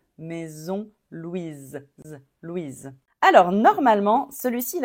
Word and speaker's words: Louise: est très très tendant on dit Louise Louise c'est comme un Z à la fin Louise comme maison Louise quand il y a